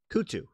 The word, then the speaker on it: Kutu: Kutu, right.